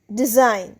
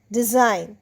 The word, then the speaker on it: design: Next comes ডিজাইন। ডিই এস আই জি এন ডিজাইন। ডিজাইনেও জি এন পাশাপাশি সুতরাং জি উচ্চারণ হচ্ছে না।